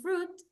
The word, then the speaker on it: fruit: here is this and fruit the letter i is not pronounced it's in singular all